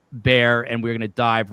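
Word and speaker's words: Bexar: He's uh the former district attorney in Bear County, which I used to pronounce Beexar until we had Nico on the show, but it is spelled B X A R pronounced Bear.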